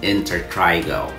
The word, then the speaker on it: intertrigo: instead Mrs Jones had in Trigo or sometimes we pronounce it as inter Trigo also known as inous